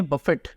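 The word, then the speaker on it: buffet: जो वर्ड है ना इसकी प्रद सशन है बफेट बफेट ट साइलेंट नहीं है ठीक है और यह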